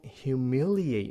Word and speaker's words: humiliate: nói rằng là don't humiliate me, right? Đừng có làm cho mất mặt mẹ, hay là ba don't humiliate me. Các bạn nhớ phát âm chữ này cho gọn nha.